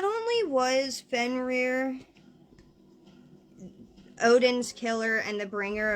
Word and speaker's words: Fenrir: natural order of Life Fen reer I I say Fen reer um that's the pronunciation that I've gone with but he's he also